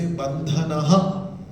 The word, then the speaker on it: बन्धनः: Whenever H dot comes, H dot, after that H, you have to pronounce the same sound which is before it. Like previous shloka, second line, last word, we say bandhanaha.